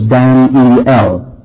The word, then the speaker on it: Daniel: But every time, you know, the English word, the Hebrew word Daniel has three syllables, Dan-E-L. The English word at least two, Daniel. But the American, only one. Have you ever heard of Daniel Boone and Daniel Webster? It's always spelled D-A-N apostrophe L. That's the way Americans pronounced it until very recently. Daniel, not Daniel.